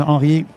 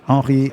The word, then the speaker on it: Henri: So, yes, my name is Henri. As you may have heard just now, Henri is spelled with an I because I am French speaking.